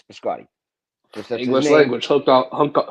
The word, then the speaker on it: Biscotti: I pronounce it correctly. You guys pronounce it incorrectly. Like you can you can you can try to spice up his name and say, "Oh, it's Bashotti." But it's Biscotti. B I S C O T Ti. It's Biscotti. This is not a Frankenstein versus Frankenstein matter.